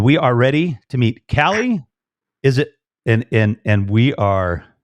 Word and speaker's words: Caleigh: And we are ready to meet Caleigh. Is it? And we are like, we're just going to have a blast. And here we go. Hey. Hello. It's actually, how are you? It's Caleigh.